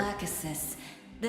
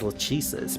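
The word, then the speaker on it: Lachesis: Lacasis, the second of the Moira sisters. Lacasist. That's how you say it. I always said it as Lesus, but to be fair,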